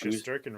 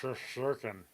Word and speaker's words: Shesterkin: Pronounced Shesterkin wrong too. It's Shesterkin.